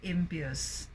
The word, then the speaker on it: impious: Pious or holy, but we say impious.